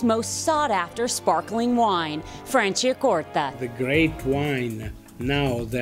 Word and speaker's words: Franciacorta: And the secret to pronouncing Italian is to say it slow. Franciacorta.